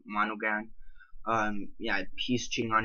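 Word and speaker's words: Monaghan: by Michelle mon monogan I believe you say her name monogan um yeah he's cheating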